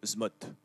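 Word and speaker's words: ZMOT: Alors, je vous le prononce, attention, c'est le SMOT.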